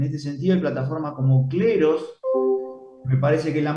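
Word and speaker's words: Kleros: Se llama Cleros, se escribe con K.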